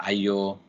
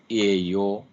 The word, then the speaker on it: Io: of the V EO it is called EO or IO or EO depending upon how you pronounce it but uh the